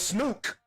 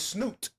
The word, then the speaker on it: Snook: Sn Oh, it's Snook. It's Snook. Y'all say Snook. All right. I thought it was Snoot. I've been saying it wrong for heels at this point. That's how they That's what they call with a K. With a K. Snook.